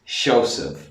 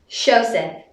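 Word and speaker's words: Seosamh: This name is Shosef. Shosef.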